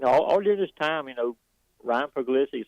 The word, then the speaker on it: Puglisi: You got to have a quarterback in every class, and this kid that they brought in, Ryan Puglisi, is that how you say his name?